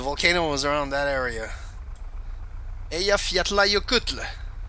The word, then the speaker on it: Eyjafjallajökull: Eyjafjallajökull. That's how you say it.